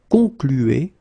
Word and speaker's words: conclu: Okay, concluez, and then here conclu. Okay, keep in mind that even if you put this final ent, so the ending, you don't pronounce it. So phonetically, you get conclu, conclu.